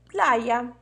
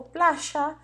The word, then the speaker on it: playa: Como a gente escreve praia em espanhol? Playa, playa ou playa. Playa, playa ou plaja. Playa, playa ou plaja. Combinado?